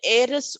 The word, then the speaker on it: heiress: Yeah, the jewels dash the heiress wore were very expensive. Heiress, so H is silent.